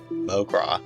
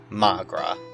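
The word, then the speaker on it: mo ghrá: Mogra, Irish for my love. One dialect would pronounce it as, Magra.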